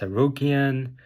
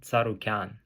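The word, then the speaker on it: Tsarukyan: Arman saran's last name people say it's aian I I've seen cha sonon say just just basically I don't know I don't even know how he pronounced it but it's wrong it's Arman tarukan anyway so I think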